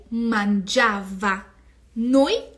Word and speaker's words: mangiavano: Io mangiavo, tu mangiavi, lui, lei mangiava, noi mangiavamo. E aqui é muito importante, prestem atenção aonde vai a sílaba tônica do verbo. Ó. Noi mangiavamo, voi mangiavate e loro mangiavano. Mangiavano, tá?